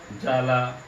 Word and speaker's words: জ্বালা: শব্দের শুরুতে যদি বফলা থাকে তাহলে সেই বফলার উচ্চারণ হয় না। কেমন দেখুন তাহলে, যেমন এখানে রয়েছে কি স্বাদ, স্বাদ, এখানে রয়েছে ত্বক, স্বাস্থ্য, জ্বালা।